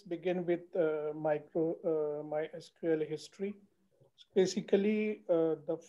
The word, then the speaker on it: MySQL: market and the name of my sequel or my sql this is the confusion what we should call so the batteries my sql okay but people call called my sequel okay so better pronunciation is mysql this is